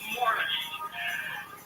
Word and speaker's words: Maurice: we've been going with His name is spelled like Maurice Chevalier, that kind of more. Maurice, but it was pronounced Morris. I guess it's a British thing.